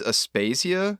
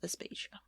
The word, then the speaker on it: Aspasia: And I'm going to get her name wrong. I think it's Aspasia. There is a woman from classical Athens, Aspasia.